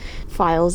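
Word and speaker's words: Pfeils: Files is spelled P-F-E-I-L-S, like my last name.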